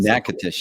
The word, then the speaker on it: Natchitoches: So I think we go through Natchitoches, I think, or however you pronounce it. Natchitoches, yeah.